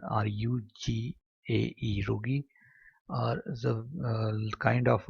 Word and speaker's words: rugae: That folds are called as a rugae, or whatever the pronunciation, R-U-G-A-E, rugae, or the kind of a villi or um, wavy appearance in a internal skin of a stomach.